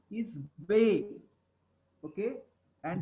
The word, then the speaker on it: be: The name of the letter B is Bay. Okay. And the name of the letter V, it is Bay.